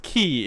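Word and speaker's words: χ: It says Chi. Kingdom Hearts Chi back cover. Or is no, it's Key. It's pronounced Key but written like Chi.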